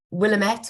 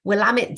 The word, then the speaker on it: Willamette: quite a mouthful um Willamette in itself is quite a mouthful I only now know how to say it in that pronunciation rather than um Willamette or anything else because Sarah Knowles likes to have a little phrase which helps and it's really helped me which is um Willamette damn it so if you